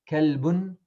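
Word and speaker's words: كلب: So calf, the same qalb, if it's pronounced with this letter, that will be kalb. Kalbun means dog.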